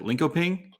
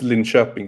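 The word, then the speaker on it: Linköping: little bit about liko is it linkoping uh is that how you say it or yeah it's it's it's lin shopping in swedish but in shopping okay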